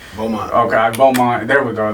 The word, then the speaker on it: Beaumont: Beaumont.